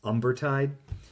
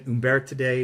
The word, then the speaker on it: Umbertide: She actually was back in a place called Umbertide, proper pronunciation, but it looks like it's Umbertide. But she's in Umbertide again.